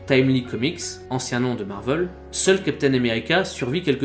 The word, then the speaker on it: Marvel: Pour rappel, on parle d'une entreprise américaine, donc avec une prononciation à l'anglo-saxonne. Si l'on voulait être très précis, nous devrions dire Marvel.